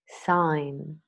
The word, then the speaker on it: sign: the Oxford learners dictionaries silent G words nah known Nash benign malign sign design a line foreigner